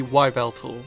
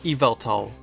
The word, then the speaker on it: Yveltal: would make sense if the first part was to be pronounced as evil, making Yveltal. The second part is supposed to be short for Talon, so Evil Talon would make perfect sense. However, it's not the traditional pronunciation of evil, it's the Middle English pronunciation, which comes out as Evel, making Yveltal. Okay, that makes sense.